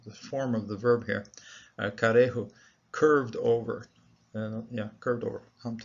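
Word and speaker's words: כרעו: There's a metech here, which suggests, and I think that's the case, that this Shiva is chopped away from this particular syllable, so it has its own syllable over here. Rather than closing the syllable, it's karehu, and those bending over, bowing over, those.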